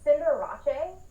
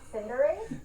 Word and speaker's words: Cinderace: Can I just say, it's Cinderace, not Cinderace.